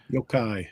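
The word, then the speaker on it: yōkai: Do you guys know how to pronounce that word that David has there? Yo-kai.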